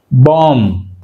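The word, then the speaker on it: bomb: చూడండి ఎగ్జాంపుల్, మనం బాంబ్, బాంబ్ అన్నప్పుడు ఏమైంది, బి సైలెంట్, బాంబ్ అన్నప్పుడు బి సైలెంట్.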